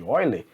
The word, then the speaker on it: Euler: Se escreve Euler, mas como é alemão ali, não tenho certeza se é alemão, né? Mas a gente faz a leitura como Euler.